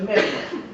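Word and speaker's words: Meynert: Tracto avénulo interpeduncular, o también conocido por los anatomistas como fascículo retroflexo de Meiner. Fascículo retroflexo de Meiner. Meiner se escribe M-E-Y-N-E-R-T.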